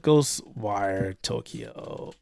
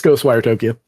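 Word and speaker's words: Ghostwire Tokyo: let's take a look goes wire Tokyo or was it the other way I always pronounce the game wrong it's ghost wire Tokyo what came around that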